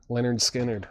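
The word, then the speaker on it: Lynyrd Skynyrd: Doors, Waiting for the Sun, and Leonard Skard, pronounced Leonard Skinnard.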